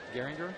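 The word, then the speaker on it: Gehringer: Oh, is that how they pronounced it? Garinger.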